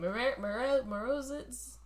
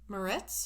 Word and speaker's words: Moretz: Morozitz. Moretz?